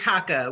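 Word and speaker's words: Chaka: It's Shaka with a hard CH.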